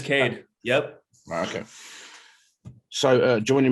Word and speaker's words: Kade: i didn't do i didn't say it is pronounced cade isn't it it's not ked or something nope it's cade yep okay so uh joining me this evening